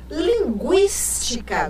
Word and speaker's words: linguística: O trema, que com o novo acordo ortográfico ele foi suprimido, o trema deixava claro o quê? Que o U era pronunciado. Linguística, guística, o G e o U pronunciados.